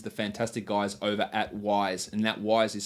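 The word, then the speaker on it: Wyze: and that is the Fantastic guys over at WISE and that wise is spelled w y z e or for those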